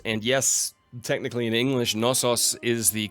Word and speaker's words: Knossos: In Greek, it is Knossos. So the emphasis on the second O, odds are I'm not going to remember that one.